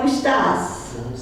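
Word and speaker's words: estás: word divides estas so you would need to put the accent there como estas to remind yourself that the stress is on the last syllable okay also this is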